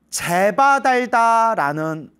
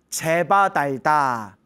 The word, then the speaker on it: 제바달다: 이 아사세 왕이 그때 제바달다라는 사람에게 완전히 흠뻑 빠져가지고 삿된 견해에 물들게 됩니다. 제바달다, 이제 대바닷다라고도 부르고요. 대바닷다. 법화경에서는 제바달다품이라고 있죠. 제바달다. 그리고 또 다른 한문 경전에는 조달이라고도 나옵니다. 그래서 뭐 대바닷다, 제바달다, 조달 다 이제 같은 사람입니다.